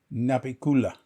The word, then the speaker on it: Navicula: Anyway, and they have worked with the band Navicula, which they pronounce Napikula. They don't say V. V is not in. There's V and F aren't used in Balinese.